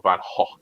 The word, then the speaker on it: Van Gogh: Uh, like Vincent Van Gogh, for instance, or Van Gogh, as it's pronounced correctly.